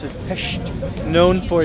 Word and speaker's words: Pest: hills and that is hes that's how you pronounce it PES known for its flat more modern attributes this